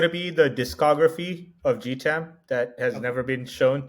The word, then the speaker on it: Gautam: that come about so my name is pronounced gam yeah in the non-indian American culture I get a very different set of versions of it I go from to guatam to Gotham like Gotham City Batman to everything so I